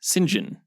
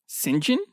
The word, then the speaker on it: St John: that James Bond movie if your first name is John it's actually pronounced Sinjin Sinjin Sinjin yep so for